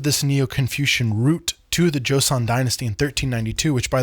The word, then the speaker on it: Joseon: It's often romanized as Joseon, but it's really Joseon, like Joe's son from one of the little pronunciation videos I found on YouTube to help me say that correctly.